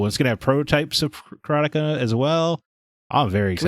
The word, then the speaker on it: Karateka: But Jordan Mechner's always said Karateka, so that's what I say.